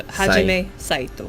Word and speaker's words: Hajime Saito: Me Yeah, so Hajime Saito. To. Yeah. Okay. That's how you pronounce it in Japanese.